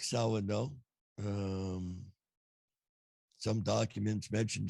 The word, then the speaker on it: Samhain: Yeah, but it's Samhain is how it's pronounced. See, I didn't know that. I always thought it was Samhain.